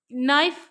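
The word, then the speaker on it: knife: तो यहां पर नाइफ के उच्चारण में किसका लोप किया है? आदि व्यंजन लोप, मध्य व्यंजन लोप, आदि अक्षर लोप या अंत व्यंजन लोप।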